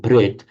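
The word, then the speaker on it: प्रेत: So bhut means somebody who, in Sanskrit, in Pali, bhuta and peta, in modern Hindi would be pronounced bhut and pret.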